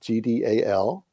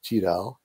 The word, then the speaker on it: GDAL: So GDAL, acronym, G-D-A-L, Geospatial Data Abstraction Library. And you will find me pronouncing it variably as GDAL or GDAL.